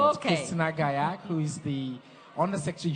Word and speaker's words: Gallach: well you want to pronounce it my way that's what I wanna do Antolin boy Gallach Gallach but it's quite tough so you do as